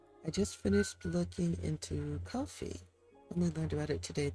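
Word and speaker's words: Ko-fi: Yeah, I think it's pronounced coffee. I've heard other people pronounce it that way.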